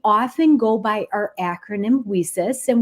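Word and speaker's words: WiCyS: go by our acronym whis and we spell that WIS pronouncing it Weis like we sisters because that's exactly what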